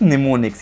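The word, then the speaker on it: mnemonics: अब अगली चीज़ होती है गाइस निमोनिक्स। यहाँ पे इसका एम साइलेंट है इसलिए इसको निमोनिक्स पढ़ते हैं।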